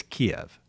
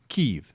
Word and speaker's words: Kyiv: If you support Russia or the Russian language, then it's Kiev. If you support the Ukrainian people, then you use the Ukrainian pronunciation, which is Kyiv.